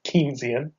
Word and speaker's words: Keynesian: So, if we were to go back to this method, which I believe for the last 5 minutes I've been pronouncing wrong, I believe it's actually Keynesian.